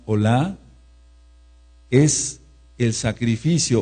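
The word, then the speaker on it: עֹלָה: Entonces el Korban, Ola, anoten este sí, O-L-A, con acento en la A, en la fonética, corbán olá, es el sacrificio, o era el sacrificio de la mañana y de la tarde.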